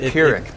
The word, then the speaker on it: Pyrrhic: Well, Alex, a Pyrrhic victory is a Pyrrhic. Pyrrhic is how you say it.